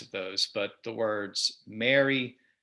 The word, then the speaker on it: Mary: So M-A-R-Y, the name, M-A-R-R-Y, like to marry someone, and M-E-R-R-Y, like have a Merry Christmas. In my accent, and I think many Americans, I pronounce them basically the same way.